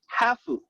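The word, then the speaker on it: ハーフ: Now, might shock you, but in Japan, interracial children are called hafu, which is the Japanese pronunciation for half.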